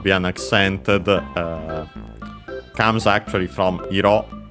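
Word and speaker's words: 色: Comes actually from iro, on accent on the last syllable on its own.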